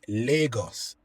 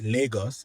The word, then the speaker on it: Lagos: But the one in Nigeria is pronounced Lagos. It's the same, the exact same spelling, but in Nigeria, the one in Nigeria is pronounced Lagos and the one in Portugal is pronounced Lagos,